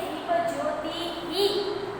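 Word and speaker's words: ज्योतिः: दीप ज्योति, दीप ज्योति ही, ये जो डॉट दिख रहा है पीछे उसको हमें क्या बोलना है, विसर्ग को हम क्या बोलते हैं, ह प्रोनाउंस होता है, क्या प्रोनाउंस होता है, ह। तो त को आगे छोटे ई की मात्रा है तो हम क्या बोलेंगे, दीप ज्योति ही, दीप ज्योति ही, हे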